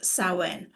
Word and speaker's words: Samhain: Historically, it stems from Celtic festivals and, it's pronounced as Samhain.